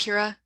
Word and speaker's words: Kira: Is it pronounced Kira? Yeah, Kira's like, they sure do.